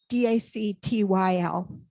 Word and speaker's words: dactyl: So D-A-C-T-Y-L.